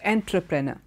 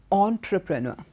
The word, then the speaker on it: entrepreneur: an e so you would assume it is pronounced entrepreneur but it's not entrap Rena it is entrepreneur entre okay because his word is derivate too